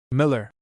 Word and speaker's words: Mueller: Mueller spent 70 years of his life in England and became so thoroughly anglicized that he wished his name pronounced Miller.